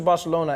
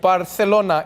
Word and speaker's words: Barcelona: Then it's like, it's not Barcelona, it's Barcelona. It's like, no, this is alternative pronunciation.